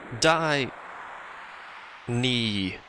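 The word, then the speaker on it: Dyne: Die knee. That's how that needs to be pronounced, by the way.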